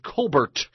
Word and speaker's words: Colbert: Stephen Colbert's sister, as I said at the top of the show, his sister, Elizabeth Colbert Bush. It's really how you pronounce her name, is Colbert, is running as a Democrat in South Carolina.